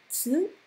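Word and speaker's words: つ: In the middle you'll see tsu, tsu, which is pronounced like cats without the cat part.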